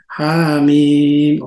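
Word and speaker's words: حم: Pag binasa po natin yan, mabilis. Hamim. Yung Ha, 2 segundo. Yung Mim ay 6 na segundo. Hamim.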